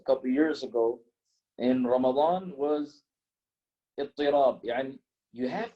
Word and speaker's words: Ramadan: Ramadan is the famous pronunciation, Wallahu A'lam.